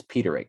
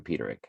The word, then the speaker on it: Peterick: uh frankie sullivan explained the song's title it's petering jim peterick i can pronounce it now that i looked at it